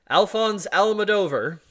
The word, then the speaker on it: Alphonse Almodovar: Almodovar that's his name Alphonse Al madover okay eventually began I think I think it's pronounced alfonsi alfonsi al-mador up in the